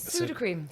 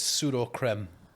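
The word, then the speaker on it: Sudocrem: word that I think sud cream PUD cream incorrect you wrong you are incorrect um it is trending because of the pronunciation it is pseudo creme it is that's a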